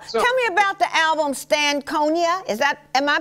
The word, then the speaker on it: Stankonia: that okay well tell me about the album Stankonia is that am i pronouncing that correctly honey Stankonia okay Oh stank maybe I was trying to